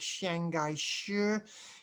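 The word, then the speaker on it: Chiang Kai-shek: into play shang kai-shek in chinese his name is pronounced something like shanghai shir he came from and believe in northern merchant family lived from 1887 to 1975.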